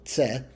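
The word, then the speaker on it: Ц: And Cyrillic letter pronounced like the C, the double Z of pizza, that is tse.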